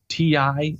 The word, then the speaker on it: Ti: or so later they'll release What's called the ti editions you'll see a little capital T little